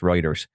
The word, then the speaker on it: Reuters: All this I'm reading from Routers, by the way, or Reuters, I believe. I guess that's pronounced Reuters. Uh but yeah, the 15